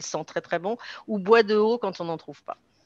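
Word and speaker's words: bois de Hô: Et dans ces périodes-là, on peut utiliser de l'huile essentielle de bois de haut, ça s'écrit H-O, qui est une huile essentielle d'une espèce très proche du bois de rose et qui vient d'Asie du Sud-Est.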